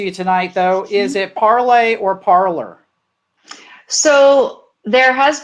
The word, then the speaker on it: Parler: her son uh parlay it was parlay originally and then as you were saying in your little film in the intro there a lot of people around here just pronounce it parlor and perhaps if we want to even reboot the pronunciation we might be asking too much of americans to say at parlay so i i would